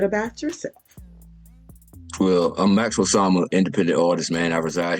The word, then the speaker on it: Osama: Osama, yes, ma'am.